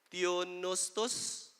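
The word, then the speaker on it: θεόπνευστος: Greek coming from the Greek word theonostos. Silent P na siya, PJ.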